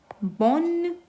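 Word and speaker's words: bonne: that is for male बोन हल्का सा न का साउंड आ रहा है बोन पूरा ई का साउंड नहीं आ रहा है दिस इज फॉर फीमेल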